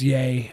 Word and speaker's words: Ye: about cocaine yeah I keep forgetting that it's yay it's dumb I'll do my best his name